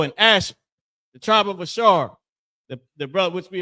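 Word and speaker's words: אשר: people that Donald Trump just ran down on uh Brazil, the tribe of Asher, Ashar, and the Hebrew.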